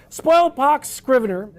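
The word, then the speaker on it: Spoilpox Scrivener: Spoil pox. Scrier.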